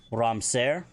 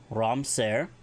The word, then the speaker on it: ramser: A sniper, Ramser, R-A-M, Betten, S-E-R, Ramser, a sniper or marksman.